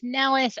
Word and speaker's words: Nellis: y Nellis um my name is Nellis I'm very grateful to be here and yeah